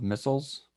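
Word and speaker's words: micelle: is to facilitate the formation of missiles okay not spelled like ballistic missile okay it's spelled differently it means tiny morsel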